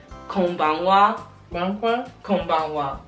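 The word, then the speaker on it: こんばんは: know this one but you say it like Kanga banga kangwa k k does that one word yeah oh K and it's kind of weird how they spell it because you would think they would spell it with a W but they spell it with the H like the the B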